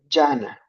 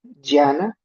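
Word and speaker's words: jhana: absorciones meditativas es en se llama yana se escribe J h a n a en sánscrito creo que es eh con d d de dedo d y a n creo que así d y h a n a yana Y esa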